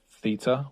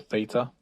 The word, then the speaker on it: Theta: your enthusiasm for nfts have you guys heard of theta or theta depending on if you're american or british you may pronounce it differently but t-h-e-t-a and if